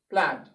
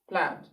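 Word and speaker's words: plaid: the short r sound and that word is pronounced plant plant plant okay this of course is not our grammar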